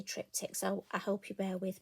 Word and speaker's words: triptych: one take on a trip tick and I'm sure there's probably other ways of pronouncing it but for me I'm going to say trip ticks I hope you bear